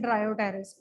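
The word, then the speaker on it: Dryopteris: और फर्न्स की दो एग्जांपल है, टेरिस एंड ड्रायोटेरिस. ओके, दो प्लांट्स हैं, पी साइलेंट होता है.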